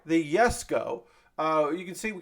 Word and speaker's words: Jesko: working on the the yes go it's spelled with a j and pronounced like a y the yes go uh you can see